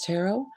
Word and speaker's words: Tarot: Now it's called Hidden Desires Tarot with no T, and it is going to be with T, but no T. It is silent T.